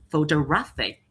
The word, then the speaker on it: photographic: It has the second stressed syllable, and the final one it is photographic. It has the third stressed syllable.